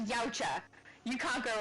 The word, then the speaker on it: Yautja: He said, Yautja, say it like Yautja.